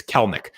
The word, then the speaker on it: Kelenic: Actually, I said that wrong. I heard how to pronounce his name. It's Kelenic. The middle E is silent in Kelnic's name, but he has arrived in the show.